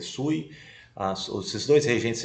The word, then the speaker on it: Sui: ser breve essa essa dinastia Sue ou se escreve sui as os esses dois